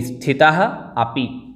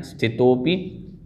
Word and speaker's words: स्थितोपि: स्थितोपि, स्थितः अपि, संधि होगी। स्थितः अपि बराबर आपका बनेगा स्थितोपि। यहाँ स्थितो अपि अलग नहीं बोलना है, स्थितोपि, स्थितोपि पूर्ण पद बोलना है।